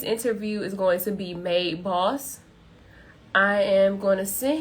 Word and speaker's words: MAD3 Boss: want to butcher it a lot of people be like mad three boss i'd be like no that's not it exactly because it don't